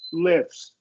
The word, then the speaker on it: lifts: cluster reduction yet but when you get uh T in between two other consonant like here right each case in each case is between F and and s in both these so we're gonna we can reduce that te gifts gifts lifts you almost don't even need to articulate